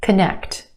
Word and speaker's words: connect: Connect, connect. 2 syllables. Emphasis where? On the second syllable, the sound. Connect. First syllable becomes the schwa. K, k. Very quick, unemphasized, schwa sound.